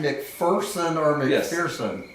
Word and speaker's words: McPherson: Is your name McPherson or Yes.